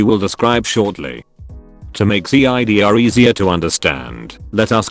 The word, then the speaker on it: CIDR: this design works with subnetting and is called cidr classless inter domain routing which is pronounced c idea as in the drink the